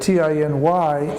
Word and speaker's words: tiny: we have a vowel if we have a vowel and a word that ends in a vowel usually we will pronounce that valve as a long vowel so that's why we would say T I n is 10 but T iny is tiny okay tiny and now I